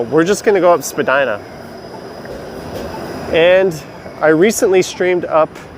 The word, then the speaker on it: Spadina: Oh, sorry, Susan, Spadina. That is very correct. I screwed up in the pronunciation of that.